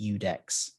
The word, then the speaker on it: IUDEX: It's at IUDEX_Phil, which is pronounced Udex.